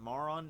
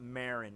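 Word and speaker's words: Maron: I make Mara on more on because because 17 called her Marin but then 18 is like it's not Marin it's more on or it's like more with the pronounce with the two syllables I don't [ __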